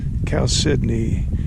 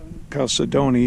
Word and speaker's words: chalcedony: Now the spelling sounds like you should pronounce it Chalcedony, but the so-called experts say the correct way to say it is Chalcedony, so I guess we'll go with the experts.